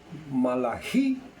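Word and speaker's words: מלאכי: Malají es la pronunciación en hebreo, pero las escrituras hebreas terminan en segunda de Crónicas, Segunda de Crónicas.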